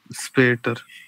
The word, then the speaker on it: Später: Später. यहाँ पर एस की जो साउंड है ना वो इस के सेंस में प्रोनाउंस होगी, लाइक इस टाइप से।